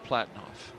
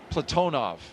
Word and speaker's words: Platonov: Ross Cosmos cosminaut Alleg Platinoff. Platonov. I corrected my pronunciation yesterday and I slipped back into Americanizing.